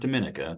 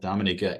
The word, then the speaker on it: Dominica: Grenadines St Lucia uh Dominica which it's not Dominica Dominica and Barbados and then